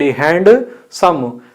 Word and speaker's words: handsome: HAND, hand, some. Handsome. Wrong. You should say handsome. D is silent.